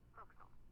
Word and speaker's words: forecastle: of a sailing ship, but it's pronounced forecastle. Why's that? Try pronouncing it like an English sailor with no formal education. Forecastle. Forecastle. Over time it whittled down.